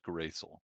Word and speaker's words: Gristle: if you didn't hear that so the order is quilla xerox uh gristle and nibbles it's pronounced gracel that that's what i